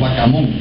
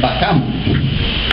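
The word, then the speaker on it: Bacamún: Nosotros tratamos de pronunciar los acentos al final, ¿verdad? Le digamos Bacamun, es más fácil. Pues aquí hay que meterle el acento en el medio. Y es Bacamun.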